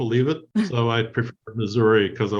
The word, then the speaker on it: Missouri: joining us from Missouri should we pronounce it Missouri or Missoura you're the native so